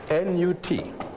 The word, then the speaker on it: Nut: How do you spell that? N-U-T. Pronounced Nut. Some people write it N-O-U-T.